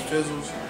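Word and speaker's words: Phizzals: My name, but my rap name is Fizzles. You spell it P-H-I-Z-Z-A-L-S.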